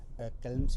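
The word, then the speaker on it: Chełm: चैम्स भी कहा जाता है। उच्चारण के तौर पे चैलेंस भी उसको कहते हैं। तो अलग-अलग तरह से उच्चारण उसका होता है। लेकिन हम चैलम्स कहते रहे हैं। आगे चैम्स ही कहेंगे।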